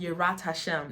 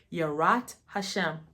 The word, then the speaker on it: Yirat HaShem: the Y the fear fear of the Lord yat Hashem is how you say fear of the Lord yat Hashem is the beginning of wisdom HMA and knowledge